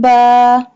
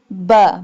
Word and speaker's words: ب: Ba, lam, ba. Ba. Ba pronounced from the wet part of both lips.